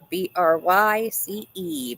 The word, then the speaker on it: Bryce: One syllable there. Don't make it more difficult than it is, D. It's just one syllable.